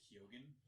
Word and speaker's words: Keoghan: I think his name's pronounced Kyogen or something. Kyogen or Kyogen.